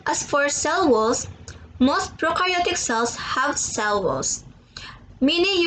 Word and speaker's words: prokaryotic: And to help me remember some more difference in this next part, I like to remember that pro in prokaryotic or prokaryote rhymes with no, and you in eukaryotes rhyme with do.